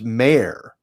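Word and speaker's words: Mare: so there's an ironic no it's not mayor it's mayor m-a-r-e mayor yeah but you're saying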